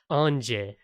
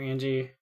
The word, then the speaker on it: Ange: Okay, if we want to get really specific about it, it should be Ange, which is the French pronunciation of the word angel.